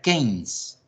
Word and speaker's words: Keynes: se escribe Keynes, pero se pronuncia Keynes, ¿vale?